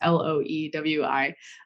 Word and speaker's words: Loewi: And so, one of my favorite stories is the story of this scientist, Otto Loewi. Actually, like never know how quite to say his name. It's Loewi.